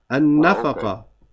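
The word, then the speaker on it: النفقة: No, it's noon. Has a shad. The noon is a sun letter, akhi. What's that lamb there? Okay, it's from Aleph Lam. An-nafaqa.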